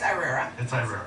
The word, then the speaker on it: Irrera: last name correctly yes i want to pronounce it just because i'm from put my webs i speak spanish but it's irera okay and it's actually italian it's italian okay right